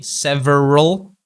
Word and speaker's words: several: So for this word, we need to kind of drop the A sound. Okay, several. Okay, so from the R sound, we immediately go to the L sound, several.